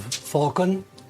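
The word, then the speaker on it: Phaulkon: So, when you return, um, come to the Abbey of Falcon.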